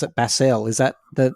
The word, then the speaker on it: Basel: I think we pronounce it Basel. Is that the name of the city? I say Basel.